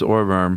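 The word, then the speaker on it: Ohrwurm: well talk about the or verm is that how you pronounce in German it's orborm yeah and uh everyone knows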